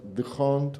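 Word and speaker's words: D'Hondt: the hunt o don't, porque nosotros tendemos a que cuando nos encontramos una H que abre algo es muda y pero en realidad parece que en Bélgica se pronunciaría The Hunt o algo así.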